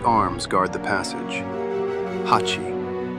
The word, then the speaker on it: 八: It is pronounced Hachi, and has 2 strokes that move apart, forming an ever-widening opening.